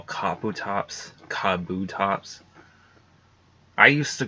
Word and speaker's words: Kabuto: pronounced something different yeah Kabuto I know it probably like it probably sounds like the way that you just typed it but it there's still a T in there it's just very subtle but yeah there there